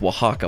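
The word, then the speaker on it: Oaxaca: is so this right here a waxa it's pronounced Waka by the way no no offense to anyone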